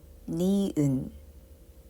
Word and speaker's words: 니은: And the next one is 느, 느, which is called 니은, 느, 나비, 나비.